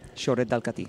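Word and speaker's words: Xorret de Catí: Fran, I will go to you for the perfect pronunciation. It's the Soret de Cati, del Cati. Yeah. Soret del Cati.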